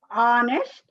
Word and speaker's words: honest: You remember here H, even though it is a consonant letter, we are pronouncing it honest man. He is an honest man. We can't say he is an honest man. Why? Because we are pronouncing it in vowel sound.